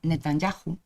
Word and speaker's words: Netanyahu: A continuación propós que a Corporación do Concello de Ribadumia declare ao primeiro ministro de Israel, Benjamín, por certo se pronuncia Netanyahu, persona non grata.